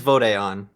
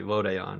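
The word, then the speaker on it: Vod'e An: play it and it it is vodon because they specifically say vode on in the okay I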